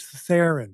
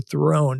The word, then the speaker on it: Theron: little like Charlize Theron. She told us, and our producer, it rhymes with heron, the bird, the heron is heron is a bird.